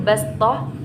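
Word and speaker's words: بَسْطَةً: wa zadakum fil khalqi bastah fadhkuru ala Allahi la'allakum tuflihun. Di situ bastoh, tulisan shad sin bacanya.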